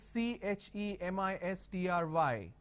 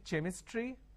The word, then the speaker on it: chemistry: a word which is c h e m i s t r y can I say chemistry no the pronunciation is chemistry now here this is